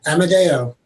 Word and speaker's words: Amodeo: pronouncing your last name correctly how do we pronounce your last name yeah amadeo emma look at you jonathan amadeo already he's